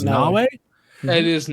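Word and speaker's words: Naoe: It's spelled like Mayo, but I think they said it was Nawe. It is The Nawe.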